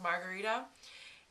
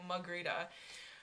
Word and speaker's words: Margarita: And they don't call me Margarita. Like, they don't say all the syllables. They call me Magrita. Which, like, if you were to spell it out, it would be like Mugrita. They just say Magrita, Magrita.